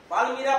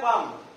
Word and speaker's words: palm: পালমিরা পাম, এটার উচ্চারণ হচ্ছে পাম, প্লাম না।